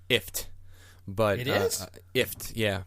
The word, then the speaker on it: IFTTT: talking about it's pronounced ifft but it is if yeah but a lot of cat I read that somewhere that is pronounced like gift Taylor just okay but